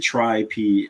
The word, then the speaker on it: Tri-P: Like, where did Tri-P FPV ever come from anyway? Like, I don't get it. You gotta pronounce it trip.